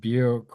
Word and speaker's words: Bukowski: parallel there between you and you know um yeah, yeah, it's pronounced Buke, rhymes with puke.